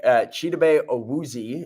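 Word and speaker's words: Chidobe Awuzie: Cheetos Awuzie is how you are going to pronounce his name.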